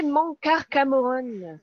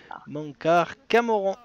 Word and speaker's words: Mankar Camoran: Ben, c'était Mankar Cameron. Cameron, pardon. Le Voilà. prononce mal. Mankar Camoran.